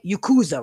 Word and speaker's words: Yakuza: Now, he was supposed to be saying Yakuza, right? Now, is there an M in there? No, there's a Z. Yakuza.